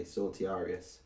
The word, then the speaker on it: Sortiarius: I say Sortiarius, personally. I pronounce it phonetically, Sortiarius. I'm sure there are alternate pronunciations out there, but that's how I pronounce it.